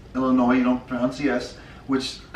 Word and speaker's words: Illinois: our commenters said specifically Illinois is pronounced without the SS I'm sorry for some